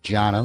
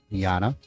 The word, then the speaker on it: Jana: And our timekeeper, I apologize to her, but I was saying Jana with a J. It's spelt with a J, but it's said Jana.